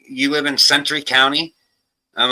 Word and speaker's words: Centre: I mean, we're even called Center County, but it's spelled CENTRE. Everyone calls it Century. You can thank the Amish for that. Damn, probably. It's Centra.